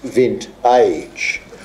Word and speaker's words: Vint-Age: productive living um and the title I pronounce vent age because I take the view um unlike some others that once you reach a certain age you like like a good wine you only get better and better as the